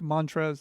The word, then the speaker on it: Montrezl: transition and talk about Montrezl. His name's spelled like that. So yeah, it is. Yeah, I think it's like Montrez, though, it's just Montrez.